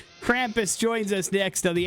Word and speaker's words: Krampus: Krampus. Thank you very much. Or Krampus would be fine.